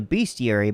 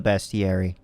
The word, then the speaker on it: bestiary: I've always referred to it as the beast yuri, but I've heard recently that it actually is supposed to be pronounced as the best yari.